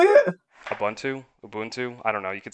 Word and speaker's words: Ubuntu: Like, if you were just like basic entry level, you're using Ubuntu, and then there were, how do you say it? Ubuntu.